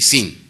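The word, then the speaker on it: Zin: pero el primero es con S y el último era con Z. Son dos desiertos, se pronuncian igual, Sin y Sin.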